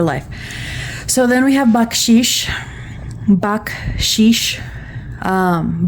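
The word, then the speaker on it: bacșiș: So then we have bakshish. Baksh. Um, bach is like the composer bach, but you pronounce that c very strong.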